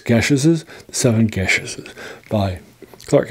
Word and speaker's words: Geases: It's spelled Geases. So it looks like Geases, but if it's from the British Isles, it's pronounced Gesh, not Geas. So it's Gesheses, The Seven Gesheses by